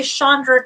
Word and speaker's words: Chandra: So when I was little, people didn't ever say Chandra correctly and they mispronounced it.